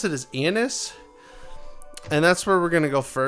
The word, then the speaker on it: Ionis: In the game, they pronounce it as Ionis, and that's where we're going to go first.